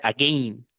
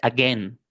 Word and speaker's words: again: la palabra again, porque la a y la i es un patrón de escritura para el di a, pero no dice again, dice again, por excepción.